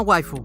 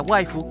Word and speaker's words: waifu: un origen simpático, pues esta no es más que la palabra anglosajona wife, cuyo significado es esposa, pronunciada con acento japonés. Si quieres, haz la prueba con el traductor escribiendo wife y reproduciéndola con la voz japonesa. Verás que la linda voz dirá waifu, y no precisamente porque sea otaku. La pronunciación japonesa hace que la palabra inglesa tenga esa fonética.